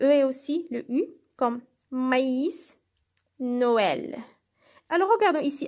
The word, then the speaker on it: maïs: fait être prononcé le maïs ça veut dire sert à signaler que la voyelle précédente doit être prononcée alors gardons ici j'ai prononcé le à maïs par contre si je